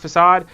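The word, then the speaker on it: façade: facade I don't know I got in the habit of making fun of people for saying facade uh fade cuz it's pronounced facade and then I started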